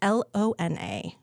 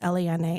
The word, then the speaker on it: Lona: It's Lona. Pretty. Which so many people, it's Lana. And I've been Lana, I've been Lona, I've been so many things.